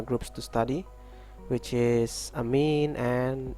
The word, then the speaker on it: amine: the last functional groups to study which is a mean and a mind that's how you pronounce it okay for a mean is a